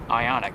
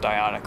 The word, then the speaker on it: Ioniq: Well, hey, those are kind of first impressions on the Hyundai Ioniq. It's pronounced Ioniq, right? Yes. Okay, not Ion IQ or anything.